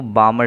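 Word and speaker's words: Balmer: दूसरी सीरीज है वो बामर सीरीज है ल साइलेंट है यहां पर साइंटिस्ट का नाम है तो अगर इलेक्ट्रॉन कहानी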